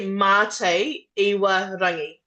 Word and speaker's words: Mate Iwarangi: So it's actually Mate Iwarangi. Nate Irarangi.